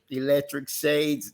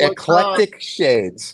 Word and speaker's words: Eclectic Shades: Like people who does say electric shades. There's a website called Electric Shades, and it is like lamps and stuff. Oh my God. And so I'm going to pronounce Eclectic Shades.